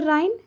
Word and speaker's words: Rijn: Now, in Germany it is called Rhine and in Netherlands it is called Rijn. Okay, Rhin. J is silent in Netherlands.